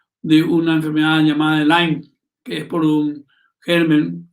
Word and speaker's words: Lyme: Esa ciudad, Lyme, se escribe L-Y-M-E, Lyme se pronuncia.